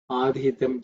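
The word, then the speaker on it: अधीतम्: Adhitam ca me kalpatam. Here the adhitam the dhi is uh fourth letter in the thavarga, so it has to be aspirated.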